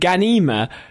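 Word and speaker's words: Ghanima: Shaun, Nakua Wolf Momoa, Jace Momoa's daughter, and Ida Brooke have joined Dune Messiah as Leto II and Ganima I think I'm pronouncing that right.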